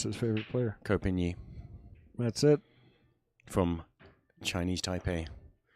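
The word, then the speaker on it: Ko Pin-yi: And I don't know how to pronounce his favorite player. Kopinyi.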